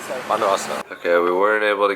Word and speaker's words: Bondowoso: Bondowoso. Bondowoso.